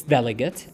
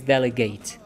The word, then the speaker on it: delegate: word is delegate it's delegate as a noun if it's a verb with the same spelling we pronounce it as delegate to delegate is to